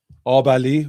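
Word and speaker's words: Abali: Um so, this right here, Obali. We pronounce our A's as ah, like Donish. Obali yogurt.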